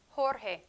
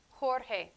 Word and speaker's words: Jorge: in the ocean hota j in spanish is similar to the h sound in english in spain however the sound is a little bit stronger in this region like let's do an example jorge jorge jorge or how we laugh